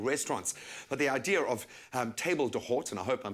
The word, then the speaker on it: table d'hôte: So the direct translation, it's a French term. It means the host table, and it's actually one